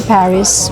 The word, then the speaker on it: Paris: Ganon pala ang basa niya no? Paris. Silent S sabi nga ni uncle ba. So par and our order has arrived mga kagala.